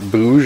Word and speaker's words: Bouge: How would you pronounce that? Bouge or Bogue? Bouge.